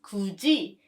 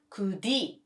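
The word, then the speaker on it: 굳이: becomes g for example could e means persistently if you pay attention to this you can see the combination of tigu patchim and e so the right pronunciation becomes kuji not kudi another rule is tigu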